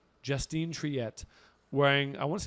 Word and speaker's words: Justine Triet: Sam, could you get the pronunciation? Even just say the name out for my woman on the right. Justine Triet, wearing. I want to say this is Louis Vuitton as well. Triet, Justine Triet, very French.